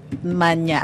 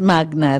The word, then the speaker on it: magna: true Latin even yyung Magna Kum laude It's Magna It's Latin it's not mana as in manyak no no hindi mag No it's Magna really Magna karta kasi